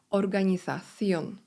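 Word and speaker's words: organización: instytucja la organization organizacja litera z czyli za jest wymawiana w se pleniący sposób organizacion el ministerio ministerstwo el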